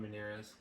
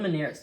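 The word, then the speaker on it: Meinerz: His name is Quinn Manz. Sounds like minor.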